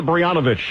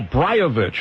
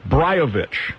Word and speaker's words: Brajovic: of course I'm American my name pronounced oh brovich okay I've still missed that I was told it was banovich brovich yes all right I'll try